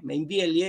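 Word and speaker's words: Meinvielle: el padre Julio Mainbiel, Mainbieli se escribe con L, Mainville, el apellido es de origen francés.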